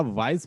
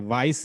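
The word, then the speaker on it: wise: वो बड़ा वाइज मैन है। वाइज, ज, नॉट स। सा साउंड नहीं यहाँ पे आ रही, वाइस नहीं हम कहते, हम क्या कहते? वाइज, वाइज, वाइज। ई साइलेंट होगा।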